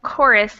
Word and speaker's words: chorus: And then we have a couple fun words like chorus and chaos that use the CH to be a hard C sound.